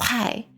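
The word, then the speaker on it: חי: So, for example, the word life in Hebrew is pronounced chai, which is comprised of two letters, ket and yud.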